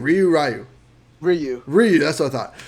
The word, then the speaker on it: Ryu: Ryu.